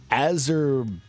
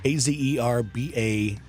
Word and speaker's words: Azerbaijan: It's Azerbaijan or something like that. Azerbaidjan.